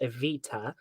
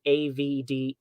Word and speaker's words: Evita: my name I mean it's not that complicated because it's after the the lovely musical aita um but I've had people write AV D or Avita and I'm like